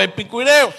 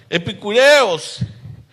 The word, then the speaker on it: epicúreos: Y algunos filósofos de los epicureos, o epicúreos, no, epicureos creo que es, por el acento en la U.